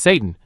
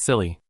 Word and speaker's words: Satan: Please pay attention to the pronunciation. It's Satan, not silly.